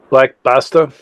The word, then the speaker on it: Black Basta: How's that pronounced? Black Basta.